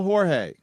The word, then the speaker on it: Jorge: How do you spell Jorge? Yes, it's pronounced Jorge, spelled Jorge. WHORE-HEY.